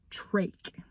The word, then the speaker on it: trach: my life lesson 1 trake you say it like tra ke trach in case you